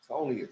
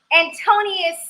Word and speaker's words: Antonius: Antonius. Yes, I like saying that. Antonius. Yes. Antonius and his other trainer that's here. Syllables. I did what? Not all the syllables. Antonius. I know, right? Antonius.